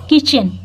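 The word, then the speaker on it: kitchen: मैंने पहले बताया देखिए सी एच के पहले अगर टी आया हो तो इसकी प्रन नहीं होती है य साइलेंट होता है इसको पढ़ते हैं किचन नहीं किचन क्या पढ़ते हैं किचन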